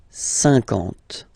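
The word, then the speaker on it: cinquante: Same thing here, okay, remember that you get this QU, but then you don't pronounce the U, and then you get the nasal, un, and then en, 50, 50, okay?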